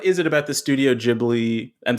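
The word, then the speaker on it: Ghibli: it about the studio jibli I'm saying that right jibli I was to say gibli jibli and uh well maybe maybe in English it is gibli in Japanese it's jibli but I don't know yeah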